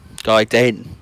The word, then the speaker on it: Gaiden: ladies and gentlemen guys do i keep saying gate i better do garden gaiden gaiden that's how alex pronounced it i'd play this before